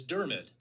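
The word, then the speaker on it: Dermott: here and let's see what it says Travis dermit dermit dermit Travis dermit why do they spell it like that then that's that's Well Jack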